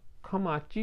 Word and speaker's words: 框: いうか、指物ではかまちって読みますね。